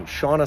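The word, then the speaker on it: Shanna: Dr sha excuse me Shauna Swan it's the correct pronunciation of her name assures me you want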